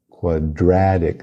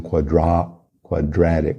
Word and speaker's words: quadratic: Quadratic, não quadratic, como se fosse um E com acento, quadratic.